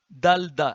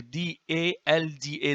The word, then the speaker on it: Dalda: You see, not delta, dalda, and here D-A-L-D-A, dalda.